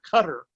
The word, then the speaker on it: Qatar: the qataris pronounce it the one i found most appropriate is closer to our guitar so but you will